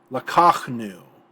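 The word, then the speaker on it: לקחנו: Lakachnu, accented on the 2nd syllable.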